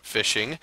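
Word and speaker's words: phishing: so the first one is is called fishing pronounced fishing uh and it's the act of sending fake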